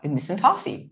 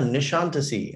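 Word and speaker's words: Nişantaşı: like this makes sense it's spelled n-i-s-a-n-t a-s-i in centasy how else would you pronounce it and she's like ah nishantisi and i was like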